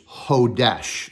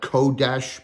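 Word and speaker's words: חֹדֶשׁ: 2320 is Hodesh. Now we call it Kodesh, but the K is silent.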